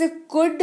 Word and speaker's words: could: अगला शब्द है हमारे पास कुड, COULD, एल रहेगा साइलेंट और इसका अर्थ होता है सका, सकी, सके या सकता था, सकती थी, सकते थे।